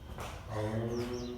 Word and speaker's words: ओम: प्राणायाम का अभ्यास करेंगे ओम का उच्चारण इसमें करना है तीन अक्षर हम उच्चारण करेंगे इसमें अ उ म इस प्रकार से करेंगे ओ इस